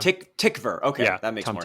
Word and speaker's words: Tykwer: I think it's Tykwer, like a V sound. Tykwer.